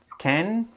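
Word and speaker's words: 剣: one this character has 10 strokes and it's pronounced can or also it's the goodie and it means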